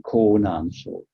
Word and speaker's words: Konan: was one of them in konan that's the name of the province in china how you pronounce it in japanese so he did not